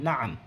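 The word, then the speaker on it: نعم: আমি আপনাদেরকে আগেই বলছি যে কলন শব্দগুলো থাকলে এখানে আইন উচ্চারণ হবে। এই নাআম।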